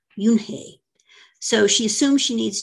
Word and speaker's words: Unhei: her name which is spelled u-n-h-e-i and is pronounced junhei so she assumes she needs to get a